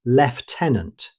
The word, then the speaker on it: lieutenant: In British English, it's pronounced as lieutenant. Yes, that's lef, not lu.